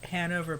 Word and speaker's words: Hanover: just that they're from Hanover Pennsylvania which is like near the area where I grew up mm-hmm so it's like sorry it's pronounced han over however he's giving me